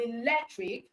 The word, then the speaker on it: electric: dramatic dramatic all right the stress syllable in the word electric is the syllable before the I okay the syllable the syllable before the I okay so we have electric is how many words we have electric that means we have three cable words okay so the